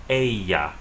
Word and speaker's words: ella: The double L sounds like Y in Spanish. The word she is pronounced ella.